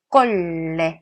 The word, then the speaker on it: colle: " 콜레 " 처럼 발음 해야 합니다 .